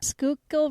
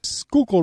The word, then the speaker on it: Schuylkill: ride along the we just learned how to pronounce this River Schuylkill River Schuylkill River yes we rode along the Schuylkill River